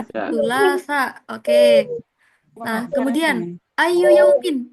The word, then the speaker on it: الثلاثاء: Nah, ini teman-teman cara bacanya. ثلاثة. Sulasa.